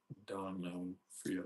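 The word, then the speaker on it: D'Onofrio: How do you pronounce his name? Forgot. Donofrio.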